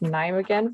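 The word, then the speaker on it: Nijmegen: the radbound university and i believe it's pronounced naim again but correct me if i'm wrong and the ph and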